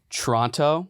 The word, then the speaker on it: Toronto: they're anti- Toronto you it's pronounced Toronto Toronto you don't you don't do the second T I don't believe yeah